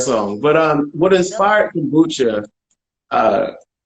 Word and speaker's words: Kombucha: Sorry if I'm pronouncing it wrong. Is it Kombucha?